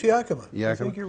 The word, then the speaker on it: Yakima: How do you pronounce it? I think it? It's Yakima.